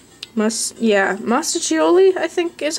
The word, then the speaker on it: Mostaccioli: Mostaccioli? Mostaccioli, I think is how you would say that word. The 2 C's indicates that it is a CH sound, I believe.